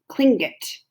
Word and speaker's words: Tlingit: Garvey said he was a Tlingit Indian, pronounced Klingit, proudly with the clicking of his tongue as if saying Klingkit.